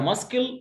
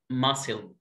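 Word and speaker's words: muscle: قلتها ماسكل غلط، اسمها ماسل ماسل ماسل ماسل.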